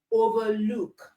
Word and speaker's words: overlook: Okay, so we have sunglass, blackboard, but for the verb, the stress is on the second part. Okay, so we have understand, overlook. That's for nouns and for verbs.